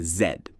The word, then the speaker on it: Z: In Canada, the last letter is pronounced zed, not z. This follows British English, and it's a clear marker of Canadian speech.